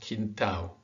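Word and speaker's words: quintal: You've got some interesting situations where an A next to an L at the end, or even actually at the beginning or the middle, is pronounced au. Like this is pronounced quintao, legal.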